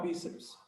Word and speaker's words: bíceps: bíceps ó que legal bíceps bi a separação silábica fica assim ó bíceps Qual a sílaba forte bíceps bíceps é o bi Então ela é um